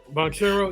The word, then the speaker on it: Banchero: Banchero, yeah.